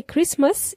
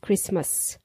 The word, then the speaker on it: Christmas: happy by the way Christmas is pronounced with a silent T we don't pronounce the T in that word Christmas we say Christmas and guys if in